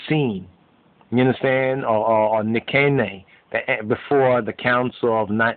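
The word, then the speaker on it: Nicaea: you understand or or nikkei before the council of nine nikia on the scene the nikkei and the nasia council but really nikea is a more correct pronunciation but the main script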